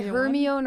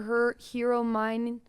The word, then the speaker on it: Hermione: No, I think I said like yeah, Hermione or her mine something. I can't remember. But I was wrong.